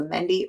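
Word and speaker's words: mehndi: hand it is a mendy ornamental it's a mendy influenced ornamental handpiece there we go that would be the correct way to say this a mendy influenced ornamental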